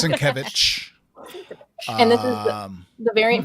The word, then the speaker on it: Sienkiewicz: Sienkiewicz. Yes. Sienkiewicz. I always think Sienkiewicz. I don't know. Yeah, it's Sienkiewicz.